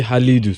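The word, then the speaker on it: Khalid: you hey na uti Halidu so Halid that is the pronunciation in terms of the Arabic side okay Halid no one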